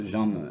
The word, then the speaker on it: Jean: It's like he's like, no, Jean. And I was like, Jean? And so Jean.